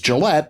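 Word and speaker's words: Jillette: Although it's spelled with a J instead of a G, Penn's last name is Gillette, pronounced like the razor manufacturer.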